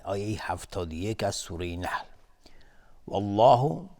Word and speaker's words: والله: والله، لفظ جلاله اینجا تفخیم هست، غلیظ تلفظ میشه چون قبلش فتحه اومده.